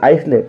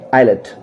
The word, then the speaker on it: islet: Next एक और spelling देख लेते हैं, ISLET, क्या पढ़ते हैं, आइसलेट, रॉन्ग है, क्या पढ़ना है, आइलेट, क्या पढ़ेंगे, आइलेट।